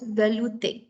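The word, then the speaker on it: velouté: one we have is the vellute source it's pronounced as valuetain now what is this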